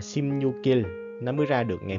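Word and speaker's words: 십육일: Nếu như không có chữ in là đọc là Simnyuk. Nhưng mà tại vì nó có mi ưng phía sau nè, mình sẽ đọc nối qua là Simnyukil.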